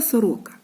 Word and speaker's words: сорока: таким значком позначили що наголос падає на другий склад Сорока правильно малята Скільки